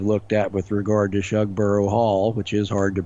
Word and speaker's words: Shugborough: the things I've looked at with regard to Shug bur Hall which is hard to pronounce that that U they used a similar technique like there's a legend of something being hidden at shugborough Hall be it the Holy Grail or the